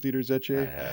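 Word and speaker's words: Zetsche: actually diimler Chrysler with deer deer Z right that's how you pronounce it deer Z I don't know who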